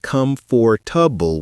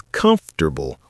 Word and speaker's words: comfortable: Word one, comfortable, not come for tubble with four syllables. It's comfortable with three syllables. Drop that or sound.